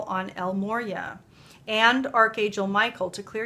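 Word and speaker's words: El Morya: you get l l Moria and I always pronounce it wrong but it is Moria El Moria um clear and shield your energy and I'll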